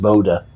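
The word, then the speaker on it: Bodø: but maybe someday i will i went to boda norway oh okay b-o-d-o is pronounced boda and uh it's really nice and the people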